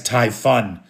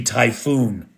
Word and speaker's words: Typhoon: missile plant now the I mispronounced it in an earlier video as tyun it's supposed to be typhoon typhoon anyway uh at typhoon